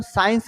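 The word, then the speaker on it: science: जैसे हम साइंस में देखें तो साइंस में हमारा क्या आता है? देखो सी साइलेंट हो रहा है इसमें।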